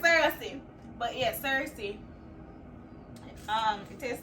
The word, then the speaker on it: Cersei: That's the pronunciation, Cersei.